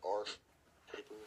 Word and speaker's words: Arches: I like our paper. It's spelled Arches, A R C H E S.